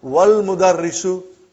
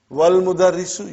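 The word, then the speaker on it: والمدرس: Then we will say, wal mudarrisu. Wal mudarrisu, you did not pronounce Hamza. Okay? Because it's Hamzatul Wasal.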